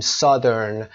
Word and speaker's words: Southern: تلفظ دقت داشته باشین. Southern، South، اما اینجا Southern، North، Northern، یادتون نره.